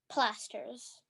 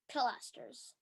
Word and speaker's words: pilasters: word again plasters plasters am I pronouncing it right say it again plasters plasters pilasters pilasters pilasters correct okay um may I